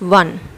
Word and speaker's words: one: This is a word which start with vowel, but it sounds like consonant, one, wa, okay, or you can say w, okay.